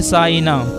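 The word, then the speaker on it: Sainah: मानी इलाज करने वाली माहिर हाजिक नाम है साइना साइना की माने हिफाजत करने वाली और मुहाफिज और इसकी स्पेलिंग है एस ए आई एन ए एच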